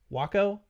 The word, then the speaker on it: UACO: How do you pronounce that? Waco. Yeah. Taco.